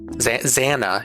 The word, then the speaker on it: Xana: Xana, banana, not banana, banana, Xana, internet.